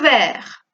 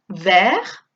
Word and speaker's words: vert: Pero claro, entonces cambiaremos la pronunciación, porque no pronunciamos las consonantes finales, por eso aquí pronunciamos vert.